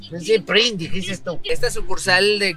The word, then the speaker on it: Krispy Kreme: Krispy Kreme.